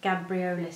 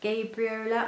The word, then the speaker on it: Gabriola: I wore my Sewaholic Gabriola skirt, though I think it's supposed to be pronounced Gabriola.